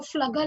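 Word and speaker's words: Pflüger: Okay, so this particular line is called as the Flugger line or the Flugger cells. It starts with a P, but the P is silent over there.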